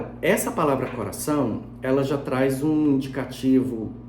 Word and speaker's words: coração: Esse O do final tem som de U, porque a gente não fala coração O, a gente fala coração.